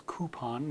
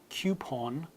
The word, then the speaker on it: coupon: American English as coupon no we use or no Yad sound and the British English has that coupon and the the vowel the final vowel is a little different in American and English pronunciations mmm so you'll see coupon versus coupon so a slightly different coupon and coupon the coupon in British English is a little more rounded of a sound many of you will